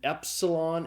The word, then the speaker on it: epsilon: And the next letter is an epsilon. It's a short e sound. It's like the e in the English word met.